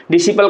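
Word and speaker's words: disciple: डिसिपल का मतलब होता है शिष्य, तो इसको हम लोग क्या पढ़ते हैं डिसिपल, यानी कि ये वाला सी हमारा साइलेंट हो जाएगा। अब देखिए ये 4 में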